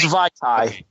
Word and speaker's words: Vaitai: Vaitai. I knew it was Vaitai. Yes. And then his Wisniewski partner on the left side isn't exactly easy to pronounce either.